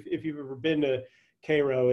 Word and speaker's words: Cairo: is then why doesn't cairo illinois which should be pronounced cairo but uh the people of cairo want to differentiate themselves from from residents of the middle east why doesn't cairo illinois